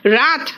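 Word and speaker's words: wrath: silent है it's right W silent है देखो रथ रथ मतलब गुस्सा रिंग रिंग मतलब निचोड़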